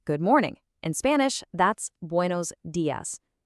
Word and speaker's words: buenos días: In Spanish, that's buenos días. Notice how that i in días is super sharp, just like the word fee.